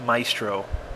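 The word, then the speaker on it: Mizto: on YouTube uh and it is pronounced Maestro um it's my own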